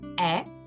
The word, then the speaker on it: hais: A com I dá o som E. Por isso, eu odeio, eu vou pronunciar je hais. Je hais.